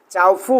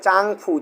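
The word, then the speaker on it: 丈夫: দেখি আমি বলে দিচ্ছি এটা চাও হবে না এটা হবে চাংফু চাং চাং ও চাংফু হ্যাঁ এইজন্য আমার ম্যাডাম বলতেছিল ওদিনকার চাংফু চাংফু আমি বুঝছিস আমি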